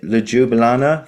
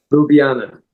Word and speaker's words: Ljubljana: Is it Ljublana festival in Slovenia? Ljubljana.